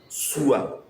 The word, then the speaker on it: Sua: In Nzema we call it Sua. Sua. And it is spelled as S U A Sua.